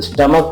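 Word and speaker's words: stomach: हुआ है स्टमक तो स्टमक में सीच का प्रोनंसिएशन क्या हो गया क हो गया ये देखो यहां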